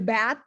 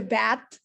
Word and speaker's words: BAT: it's the bad team so it sounds like the bad but it's like the bat oh the it's the bad two guys that i actually pronounce it the b-a-t because of the capital letters okay one minute to